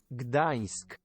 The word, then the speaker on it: Gdańsk: Gdańsk.